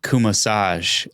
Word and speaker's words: Cumasach: And it just so happens like Cumasach and like massage.